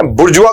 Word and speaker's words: bourgeois: बुर्जुआ इसका उच्चारण इसलिए अलग है क्योंकि फ्रेंच वर्ड है, लेकिन रीडिंग में पैसेज में हम बहुत ज्यादा वर्ड इसका इस्तेमाल करते हैं।